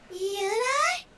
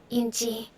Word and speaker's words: Yunji: Yuna? Okay, Yunji is how they say it.